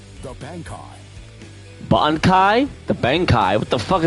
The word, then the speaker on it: Bankai: Bonkai. Not no Bangkai.